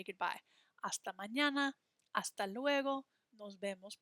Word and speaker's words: hasta: H's are always silent in Spanish.